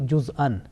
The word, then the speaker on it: جُزْءًا: If you just, pronounce, it will be juz'an, because Hamza with a, double fatha and producing a nasal sound.